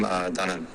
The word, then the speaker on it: Danan: I pronounce my name Danan. Danan. So some people say like Danan, Danan, I don't know. But it's Danan.